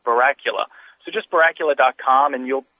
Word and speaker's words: Barracula: So like like Dracula um Barracula.